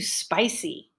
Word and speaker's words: spicy: The food is much too spicy. So spicy has 2 syllables. The stress is on the first syllable. So I made the vowel long and clear, and my pitch went up and down.